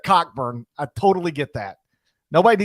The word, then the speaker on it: Cockburn: If you want to call yourself Coburn instead of Cockburn, I totally get that. Nobody needs to go through life being called Cockburn, but that's Braun.